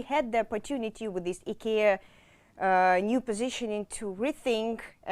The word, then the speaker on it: IKEA: brands ikea he care how to pronounce it properly finnish student it's ikea yes yes sorry so uh